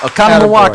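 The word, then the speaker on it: Oconomowoc: Do you remember how to pronounce the name of the town Okanawok? Okconawak.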